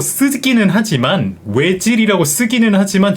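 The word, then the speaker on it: Özil: 가장 높습니다 아네 맞아요 외질도끼 그라미 다가 이거 아침 먹고 땡기잖아요네 라운트 들어가죠 예 그래서 그렇죠 저희가 왜라고 고 쓰기는 하지만 외질이 쓰기는 하지만 전혀 외에 가까운 소리가 아니거든요 약간 오이와 외 사이에 오이칠 이게 이제 워어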